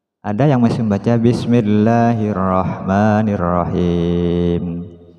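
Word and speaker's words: بِسْمِ اللَّهِ الرَّحْمَٰنِ الرَّحِيمِ: yang masih membaca bismill Bismillahirrahmanirrahim Jadi bukan him tapi he la bukan Le bismillah Bismi mi bukan mi padahal dalam al-qur'an itu yang ada harakat a i u jadi bacanya Bismillahirrahmanirrahim bacaan miring itu seringkiali terjadi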